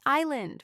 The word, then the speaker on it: island: There is island. We see S. But S is just decoration.